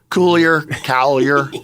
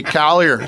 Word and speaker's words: Coulier: It gets mispronounced more than it gets misspelled. Yeah. Coulier. Hey, Coulier.